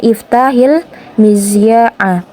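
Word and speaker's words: افتح المذياع: Nah, ketika sukun bertemu dengan harful sakin atau huruf alif lam, kan hanya ini sukun, dia bertemu dengan alif lam, maka hanya ini dimajrurkan, dikasrohkan. Jadi dia cara bacanya iftahil mizya'a.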